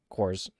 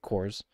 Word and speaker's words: corps: Army amongst the different Corp cores right you don't pronounce the P right cores um and advancing and